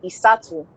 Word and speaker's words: Isat: So in Holland, they pronounce my name as Isatu.